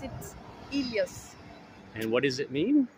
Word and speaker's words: Helios: three weeks and what is his name again Helios and it's in Greek we pronounce it Elias and what does it mean it means the